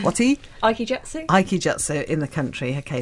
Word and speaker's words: Aikijutsu: or jutsu, or you're going to have to pronounce it for me now. Aikijutsu. Whatty? Aikijutsu.